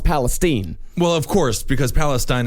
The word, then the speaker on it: Palestine: In fact, in Texas, it's pronounced Palestine.